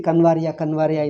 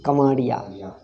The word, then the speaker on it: Kavadia: You see Kanvaria in all the news. It is not Kanvaria, it is Kavadia.